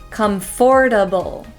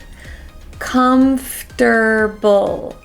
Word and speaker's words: comfortable: to say comfortable so the way I say it is I say com com comforable comfortable comfortable you might hear some people put an extra syllable and say comfortable comfortable comfortable either way is okay my new bed is